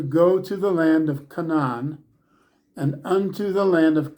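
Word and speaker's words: Canaan: the land of Canan the term Canan if you break it down it's Canan with the emphasis on the final syllable Canan comes from the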